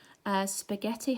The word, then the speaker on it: spaghetti: like nut or ledge spaghetti has a silent H in it and scissors has this